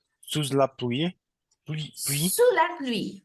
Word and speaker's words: sous: B sous l'appuie pu sous la pluie parce qu'on ne prononce pas le S final sous la pluie sous